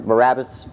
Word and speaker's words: Barabbas: Barabbas?